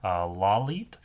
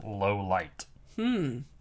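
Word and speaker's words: Lawliet: Other fun fact about L's surname, which we do find out later, is pronounced Lalit, which is also pronounced can be pronounced as low light.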